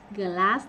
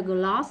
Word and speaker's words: class: Glass Mỹ nha. Đó phải là gloss thì Anh đúng không?